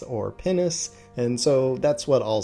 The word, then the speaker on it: Pinus: Biologists have told me that technically yes, it is pronounced like the bodily organ in Latin, but to avoid the giggles, they generally say pinus or pinus, and so that's what I'll say.